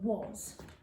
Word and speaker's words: was: So thinking about that, because it's a common exception word, it's not spelt how it sounds. So was. W, A, and S.